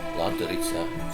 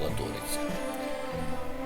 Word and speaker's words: Латориця: І далі впадає в річку Латориця, чи ще по-іншому кажуть Латориця. Наголос ставлять по-різному.